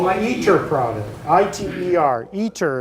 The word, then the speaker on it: ITER: eat your problem ITER eater is how we pronounce fish it's being it's being built in southern France but it's a worldwide collaboration the u.s. is responsible for about 9 percent of the eater scope and that in